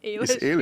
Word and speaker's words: Ailish: scientist and colleague Alish Sullivan is the I pronounce it correctly Alish or Alish yes Alish you do it right yeah okay Alish Sullivan who is a former Bachelor uh honors